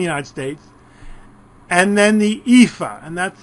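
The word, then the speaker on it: EAFE: everybody including the United States and then the epha and that's how it's pronounced Europe Australia and the Far East and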